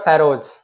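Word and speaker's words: Pharaohs: Who were फेरोज, इसका right pronunciation है फेरोज, क्या, फेरोज, क्या, फेरोज, ओके।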